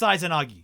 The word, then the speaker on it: Izanagi: Izanagi is pronounced Izanagi.